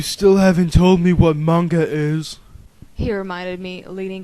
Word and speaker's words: manga: you and start a mja club at school it's manga I corrected hard G oh yeah hard huh